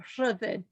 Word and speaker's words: Rhyddid: we're showing here, Earth Song, the video, and Ridded, if I'm pronouncing it correctly. Shall we go through a pronunciation first? Please, please. It's Rhyddid. So Rhyddid, which is a Welsh word that means freedom,